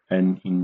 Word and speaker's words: ni: For example, N here, the pronunciation is as uh no N in the no. And this I uh pronunciation is as double E in the English word C. So if we put them together, it will be NI without tone.